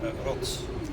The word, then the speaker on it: rots: Rots. What? Rots. Rots? Yeah, rots. Rots. Like it rots.